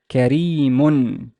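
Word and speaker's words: كَرِيمٌ: But there's tanween. How would I pronounce this? Kareemun, kareemu, kareemun, mun. Dhamma, tanween. So there's an un sound in the end.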